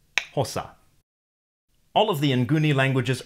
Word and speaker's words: Xhosa: You can hear one of them in the name of the language, Xhosa. Actually, this is the first time I've tried to pronounce a click consonant, so I may be pronouncing the name of the language wrong from the point of view of a native speaker. But I guess it's something like that.